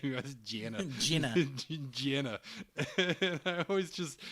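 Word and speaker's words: Jehnna: like a conan name i know they spell it with an h but you can't hear the h so it just sounds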